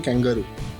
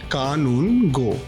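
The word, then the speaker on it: Kanungo: People call me Kangaroo. But my surname is pronounced कानून गो।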